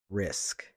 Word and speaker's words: Rizq: Rizikians lived in another galaxy on a planet known as Rizq. Risk, like the board game, spelled with a Z, which was located in the original Tri-Solar System, which featured a movable throne slash spaceship, Nibiru.